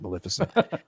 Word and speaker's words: Maleficent: That's how I pronounce Maleficent.